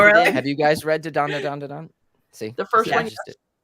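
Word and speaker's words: Dandadan: I say da da dan, but Okay, people so I was say saying it wrong. dan. I'm like, I was saying no, it's dan gotta be dan da dan.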